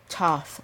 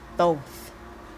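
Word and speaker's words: Thoth: talking about both and most people say toss or thought but the way that you say his name is both with the long oh and I'm gonna write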